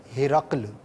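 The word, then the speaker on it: ہِرَقْل: وہ توجہ گئی، تو اس کا صحیح تلفظ ہے ہرقل، ہا کے نیچے زیر ہے، را پر زبر ہے، اور جو دو نقطے والا قاف ہے وہ ساکن ہے۔ ہرقل جو ایک لشکر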